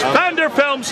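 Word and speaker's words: Pfander Films: Vander Films spelled with a P.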